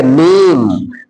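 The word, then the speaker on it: name: ई शब्द के अंत में हो तो ई साइलेंट हो जाता है। कोई भी वर्ड होगा, अगर उस शब्द के अंत में क्या आ जाएगा? ई आ जाएगा, तो ई का कोई उच्चारण नहीं होता है। जैसे आप देखिए यहां पर लिखा गया नेम, तो अंत में ई आ गया, तो इसको NAM ही बोल रहे हैं, नेम बोल रहे हैं,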